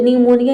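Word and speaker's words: pneumonia: पी के बाद अगर एन ई हो तो वहां पे भी पी लेटर साइलेंट रहेगा। ठीक है? तो निमोनिया इसे पढ़ेंगे हम।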